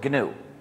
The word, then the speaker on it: gnu: the English language because according to the dictionary the g is silent and it's pronounced new so every time you